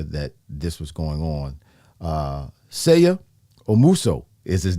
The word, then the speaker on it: Seigha Omuso: Seigha Omuso is his name.